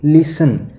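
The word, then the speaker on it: listen: ऐसे ही लिसन। लिसन में क्या है? टी साइलेंट है तो टी के नीचे अंडरलाइन करना है।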